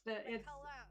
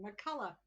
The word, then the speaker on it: McCullough: Please welcome McCullough. Was that right? Did I get it that time? McCullough. It's McCullough. Sorry. OUGH on the end. McCullough.